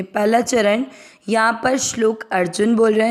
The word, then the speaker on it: अर्जुन: चरण यहां पर श्लोक अर्जुन बोल रहे हैं जू के ऊपर आध र अ के साथ आधर अर जुन न में अ मिक्स किया ज की मात्रा को दीर्घ नहीं करना है अर्जुन वावा च में अ